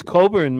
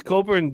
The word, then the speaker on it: Cockburn: Bruce Coburn it's it's it's spelt c cockburn maybe that will help you it's spelled cockburn why don't you write cockburn into your internet no put Bruce in